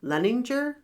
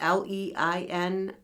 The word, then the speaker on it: Leininger: So if I mispronounce anything and I start giggling over... So this is about James Madison Leninger. I think is how you would say it. Leininger.